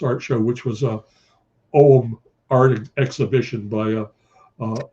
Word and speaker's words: Ogham: It looks like it's pronounced Ogham O G H A M, but it's pronounced Ogham.